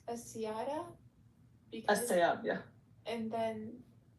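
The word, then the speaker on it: السيارة: the car is pronounced as-siyara because As-sayab, yeah.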